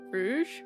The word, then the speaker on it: Rouge: Rogue or R? I don't. Rouge. Rouge. Is that what you meant? Rouge. It said rouge. Rouge. Rouge and Rogue. I get them mixed up sometimes. Rouge.